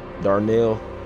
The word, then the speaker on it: Darnell: oh yeah i'm on there yeah boy how do you how do you spell it there my name is darnell bro d-a-r-n-e-l-l darnell this is a oh